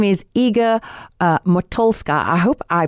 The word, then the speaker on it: Iga Motylska: And yes, Iga Motylska, you pronounced it perfectly.